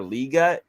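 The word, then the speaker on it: Legette: this Xavier Le which did you guys hear him pronounce his own name it's Xavier liut no I'm talk because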